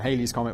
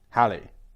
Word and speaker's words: Halley: It's not Holly's comet or Hal's comet. It's Haley's comet. Although the name is meant to rhyme with Valley Halley.